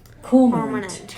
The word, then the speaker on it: cormorant: How does it pronounce? Cormorant.